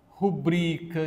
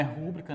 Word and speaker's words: rubrica: Amável, rubrica, não é rúbrica, né?